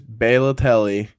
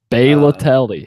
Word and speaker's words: Balotelli: It was Balotelli. Balotelli, he says. How would you pronounce it?